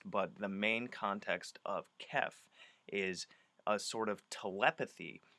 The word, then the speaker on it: khef: what i'm gonna say now kef is another term that comes from the dark tower series it's spelt k-h-e-f and what it effectively